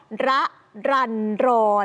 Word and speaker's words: รรรรรร: ให้ ฟัง เลย ว่า รอ เรือ 6 ตัว แบบ เนี้ย อ่าน ว่า น้อง ระรันรอน อ๋อ ระรันรอน ชื่อ ดี